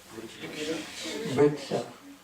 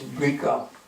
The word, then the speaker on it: vriksha: Vriksha. With Bengali pronunciation or Assamese or they say it's brika, like that.